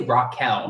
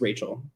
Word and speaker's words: Raquel: sticking up for herself I would say Raquel yeah like Raquel like Rockefeller Center yeah yeah no that's not how you say it I'm sure it's Rachel yeah or Raquel Linda